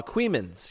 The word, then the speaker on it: Coeymans: This is a local story right from Queemans. You know how Queemans is spelled?